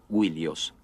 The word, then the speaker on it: Ilios: Troya y frecuentemente Ilios, originalmente pronunciada Willios.